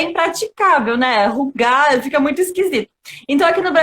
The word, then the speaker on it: Hygge: E a gente colocou no YouTube, e assim, falando propriamente, é rugar que se fala. Só que aqui no Brasil ninguém fala, tá? Ninguém fala porque é impraticável, né? Rugar fica muito esquisito.